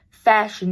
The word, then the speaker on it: Fashanu: that Olu fashanu fashu it's pronounced fashion apparently uh I was watching a bangle video and bangle said that he had like talked to old fashion and uh and he said it was fashion so Olia fashion new